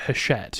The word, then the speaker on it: Hachette: Is that how it's pronounced, by the way? Is it Hachette?